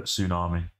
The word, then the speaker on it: tsunami: my phone to Whatsapp you do the proper pronunciation for Tsunami Tsunami and then I'll listen to it live